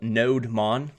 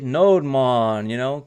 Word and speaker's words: nodemon: So I like to use an NPM package called NodeMon, like Bob Marley, NodeMon, kind of like that.